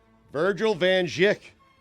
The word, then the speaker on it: Virgil Van Dijk: Virgil Van Dijk.